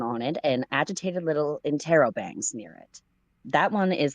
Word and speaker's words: interrobangs: angry eyebrows drawn on it and agitated little intrabangs near it. That one is the Knight of Cups, perhaps Carcat's own card. Okay, think Real quick, laterally from. that's pronounced interrobangs.